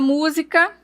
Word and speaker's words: música: A palavra música também temos aí, olha, ela é uma proparoxítona porque ela termina a acentuação gráfica delas e ao mesmo tempo tônica é no mu.